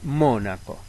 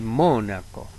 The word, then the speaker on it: Mónaco: Cólico es una palabra esdrújula igual que Mónaco.